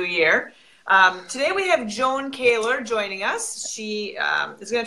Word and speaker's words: Kaylor: So and your last name is pronounced Kaylor, is that correct? That's correct, yeah. Okay.